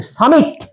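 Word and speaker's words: summit: To make an attempt to reach, ওই উচ্চতে, সামিট, উচ্চারণটা দেখবো, SUM, সাম, MIT, মিট, সামিট, সামিট মানে হচ্ছে উঁচু, ওই উচ্চতাতে ওঠার সুযোগ পেয়েছিলেন, উচ্চতাতে পৌঁছানোর সুযোগ পেয়েছে।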